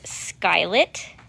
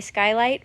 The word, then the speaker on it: Skylit: bright sky blue called skylit it's funny I wanted to say Skylight but it is spelled skylit it's such a pretty